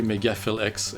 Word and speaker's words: MegaPhilX: there yeah it's basically megaflex everywhere yeah excellent that's not mega phil that's fill p h i l for the record just to spell it out yeah everybody and another